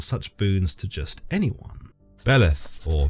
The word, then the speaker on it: Beleth: Beleth, or Beleth as it's pronounced in Johann Weyer's Pseudomonarchia, or Beleth in de Plancy's Dictionnaire